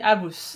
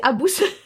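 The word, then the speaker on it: Habous: le quartier des des abous des Abous que je prononce toujours mal et je dis Abou comme le singe dans Aladin. Non c'est Abous.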